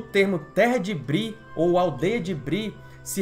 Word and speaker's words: Bree: da pronúncia ou seja para que os leitores deve tá sem falar breve ao invés de bri bri ficava a leste